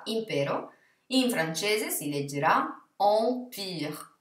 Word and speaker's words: empire: Perciò la parola impero in francese si leggerà empire, empire, mentre EN si legge en, quindi lento si dirà lent, lent.